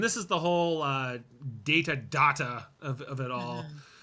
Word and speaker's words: Data: data look at this data what my name it is pronounced data oh you called me data what's the difference one is my name the other is not yeah I love that